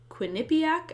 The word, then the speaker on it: Quinnipiac: Before the 2020 presidential election, this polling company, Quinnipiac, I think is how it's pronounced, did a poll of 1,500 likely voters, and they asked, who do you support for president?